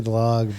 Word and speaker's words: Dlagnev: I didn't know if it was Dlagnev or Dlagnev. I mean, honestly, I don't either. I mean, it was. I think we say Dlag, but I mean, it was translated phonetically.